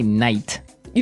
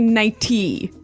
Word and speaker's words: nightie: But you don't say night. You don't say nighty. You say nighty. Yeah. You you make the t a d.